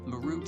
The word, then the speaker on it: Marut: Actually, his name was Marut. That's how you say it. Marut. m a r u t a root like ma your root.